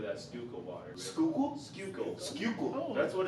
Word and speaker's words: Schuylkill: Schuylkill. That's what it's called. Oh, I'm not gonna spell that in front of a camera.